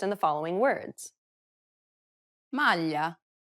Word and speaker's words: maglia: Listen to Desiree and pay attention to the way it's pronounced in the following words. maglia, meglio, aglio.